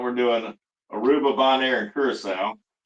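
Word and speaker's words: Curaçao: Curacao, that's how you say it.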